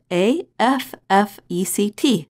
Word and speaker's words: effect: When we are speaking quickly, the first vowel of the noun, effect, is reduced to the quick sound, affect, which is the same sound as the verb.